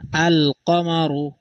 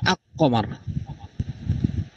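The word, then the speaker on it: القمر: আসছে এটা বুঝতে পারবেন আল কমার নাকি আকমার এখানে আল কমারু মানে আলিফ লামের উচ্চারণ হয়েছে। লামের উচ্চারণটা বহাল আছে।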